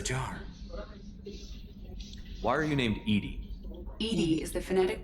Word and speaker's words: EDI: airlock is a jar why are you named Edie Ed is the phonetic pronunciation of e d that is an acronym